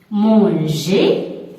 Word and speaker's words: manger: par la lettre E, ne lisez pas la lettre R, les prononcez comme E accent. E accent. Manger, comme s'il y a E accent.